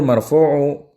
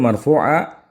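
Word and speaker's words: مرفوعًا: Wa kaunuhul marfu'u huwa hukmuhu wa katsiran ma yuzkaru hukmu fil haddi ziyadat tawdihin, ya. Ini harus bacanya wa kaunuhul marfu'a huwa hukmuhu, dan keadaannya marfu itulah hukumnya.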